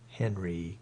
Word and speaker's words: Henri: And Henri is pronounced like that radio uncle. Oh, well, okay, then. The lowercase h made me think he was an on, not a hen. Henry, got it.